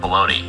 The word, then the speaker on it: baloney: Which, if you didn't get the memo earlier, it means son of sorrow, and it rhymes with baloney.